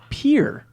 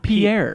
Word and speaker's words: Pierre: The capital of South Dakota is Pierre, not Pierre. Oh. He says it's not pronounced Pierre.